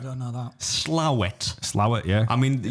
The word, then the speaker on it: Slaithwaite: Slowett. I'm just naming places now that I think are over there. That's how it's pronounced though. Even though it's like written Slaithwaite, it's called Slowett.